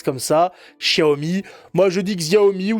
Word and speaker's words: Xiaomi: On dit Xiaomi. Oui, on dit Xiaomi, effectivement, parce qu'ils prononcent le X comme ça. Xiaomi.